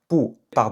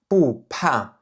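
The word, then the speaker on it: 不怕: Donc cette expression qui veut dire "ne pas avoir peur" elle ne se prononce pas "bu pa" elle se prononce "bu pa" "bu pa".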